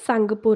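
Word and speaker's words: Tsangpo: Okay, T silent है, सांगपो river.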